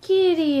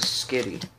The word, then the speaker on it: Skitty: rare Kyogre there's a kitty in there yeah I know there's a Skitty not Kitty it has